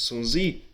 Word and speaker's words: Sun Zi: so translated as Art of War by General Sun Tzu, or in other versions Sun Zi in other translations, his name is pronounced like this, tells attack what's weak.